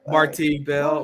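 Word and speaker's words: Marti Belle: Isn't it just Marty Bell? Because I'm from Virginia and we just like stress our syllables weird. Oh, okay. All right. Marti Bell, Marti Bell.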